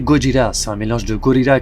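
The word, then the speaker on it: ゴジラ: Déjà, sache que Godzilla se prononce en japonais Gojira, c'est un mélange de gorilla qui veut dire gorille et Kujira qui veut dire baleine.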